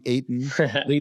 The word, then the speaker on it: Etan: Apologize if I pronounced your name wrong, Etan. It's okay. Yeah, Etan is the proper pronunciation, folks.